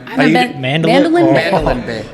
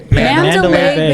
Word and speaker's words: Mandalay Bay: Mandolin Bay.